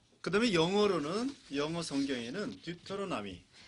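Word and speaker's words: Deuteronomy: 그다음에 영어 성경에는 듀토로나미. 这英语的发音是这样的， 듀토로나미.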